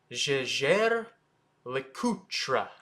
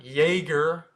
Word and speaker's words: Jaeger-LeCoultre: and that's jlc and the way to actually say it is Jer lutra it's not Jagger it's not Lut it'ser lutra that's the proper way to say jlc I'm only going to